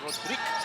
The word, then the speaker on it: Rodrigue: He, of Not course, 100% sure if he's from Cameroon, pero meron siyang French kasi Rodrigue ang kanyang spelling, pero Rodrigue, sabi niya, ang pronunciation ng kanyang first name.